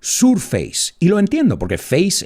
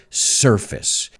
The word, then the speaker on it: surface: at the word surface porque muchos alumnos lo pronuncian surface face escara en esta casa surface then i said these